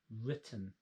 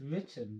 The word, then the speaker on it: written: on Lytton Litton yeah listen to that word written it's a short sound isn't it too short vowel sound it's not I it's eat mitten and it's written because we have a double consonant just stop this e affecting that vowel this is why we have double consonants in the English language you jump on so